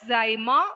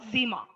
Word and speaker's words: sima: and together it is, you can pronounce it as zyma or zima. Okay, that means silica, Si for silica, and magnesium it is Ma. So zyma.